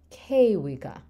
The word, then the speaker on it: kewika: it into a noun, you have kewika, where you stress that first syllable because the root is kewi, and you're only adding one syllable, and so you can keep it on that antepenultimate kewika.